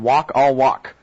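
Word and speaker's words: Waq al-Waq: called Big Think calm the blog is called walk all walk that's waq this is how that walk is spelt I really appreciate your time on the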